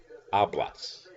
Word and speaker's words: hablas: what would it be hablas remember you're not pronouncing the H the H is a part of the word H a PLA s